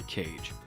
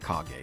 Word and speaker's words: Kage: you out much less than cage and no it's pronounced kage don't yell at me